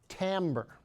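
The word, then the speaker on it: timbre: That word I wrote on the board is pronounced tambber.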